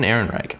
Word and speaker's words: Ehrenreich: any of those who don't know how to pronounce it Alden Ehrenreich he was good as han Solo the guy